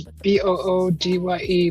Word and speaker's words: Budai: The pronunciation is Boodye, Budai, widely known in Western culture as the Laughing Buddha or the Fat Buddha.